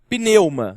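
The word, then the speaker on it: πνεῦμα: e a de baixo, pneuma. A pneuma é mais fácil porque a gente chama aquilo que a gente enche de ar para rodar com o nosso carro de pneu.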